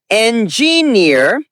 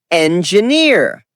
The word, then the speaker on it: engineer: Word engineer. Wrong is engineer. Correct is engineer. Example. My brother's an engineer. Soft J sound. Stress on the last syllable.